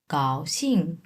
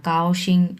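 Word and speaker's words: 高兴: এটা হচ্ছে গ এর উচ্চারণ। এটা ক এর উচ্চারণ হবে না। কাওশিং এমন হবে না।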